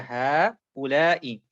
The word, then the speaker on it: هؤلاء: So هؤلاء, but there's actually a small alif there. Sometimes shown, sometimes not shown. So therefore you pull a bit longer. هؤلاء.